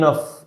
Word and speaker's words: enough: كافن يعني enough. الجي اتش هنا هنطقها اف، هقول عليها enough.